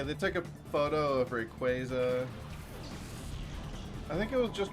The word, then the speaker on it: Rayquaza: thing on display, or it was like commonly mispronounced names. One of them was Rayquaza. They confirmed that it is for sure Rayquaza, which is fine with me, but I definitely said it as Rayquaza when I was a kid.